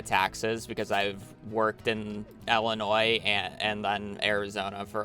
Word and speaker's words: Illinois: Illinois or did I did I add an S I'm so used of adding it I feel like that's just my pronunciation of words just being bad more so than me doing it on on purpose ell noise get I add the ass don't forget about the ass I'm so glad you're